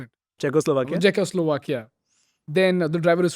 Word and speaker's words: Czechoslovakia: How do you pronounce it? Czechoslovakia.